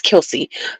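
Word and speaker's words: Kelce: Travis Kelsey, now that I know how to say it, Kelsey, because I was like, how the hell you say his name?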